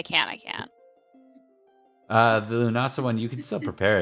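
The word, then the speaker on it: Lughnasadh: succeeded but a one is pronounced lunasa lunasa thank you mhm well that's sound that's like just get rid of the D then and otherwise it's good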